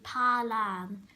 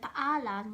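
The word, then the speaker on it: paalam: In the Filipino language, they pronounce every single letter. So you might come across a word that says P-A-A-L-A-N. You might say palan, but in the Philippines we say paalan.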